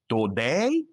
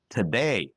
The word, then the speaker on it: today: Do you say doctor, teacher, today? If you say that, you're making a mistake. Say doctor, teacher, today. If you said it the wrong way, don't worry. This is a very common mistake that English learners do. The good news, there's one tiny sound that if you learn it, you can fix this problem. It's called the schwa.